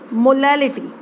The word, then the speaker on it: molality: Second method is मोलैलिटी। Second method is मोलैलिटी। हालांकि दोनों methods की प्रोनाउंसिएशन में भी बहुत कम डिफरेंस है, that is रिटी, this is litti.